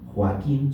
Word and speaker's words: Joaquín: Joaquín son tres sílabas. O aquí, porque no en esa en esa en esa conjunción de o y a ninguna de esas dos es ni i ni u, entonces no se forma el diptomo, entonces las separamos.